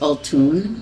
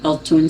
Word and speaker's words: Altoon: The name comes from my grandmother, my father's mother, and it's pronounced Altoon. Altoon is the correct pronunciation.